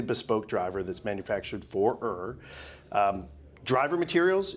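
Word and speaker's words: Ø: that is pronounced as if it was fur.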